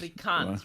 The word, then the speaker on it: Afrikaans: That's one of the things about Afrikaans and living there is that you have. Because so Afrikaans is such a mixture of languages. Afrikaans, right? Like not Africans, Afrikaans.